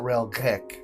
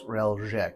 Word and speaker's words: Reljek: I think it's It's not Relgek. It's Reljek.